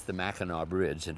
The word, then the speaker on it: Mackinac: is maca now in in Michigan it's the Mackinac Bridge and it's spelled like Mackinac but it's pronounced Mackinac so we're going to call this the Mackinac